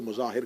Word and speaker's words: مظاہر: ہیں۔ حبیب ابن مظاہر، مظاہر کہا جاتا ہے لیکن مظاہر ہے، اس کو مظاہر کہہ دیا جاتا ہے لیکن اصل تلفظ کا مظاہر ہے۔ حبیب ابن مظاہر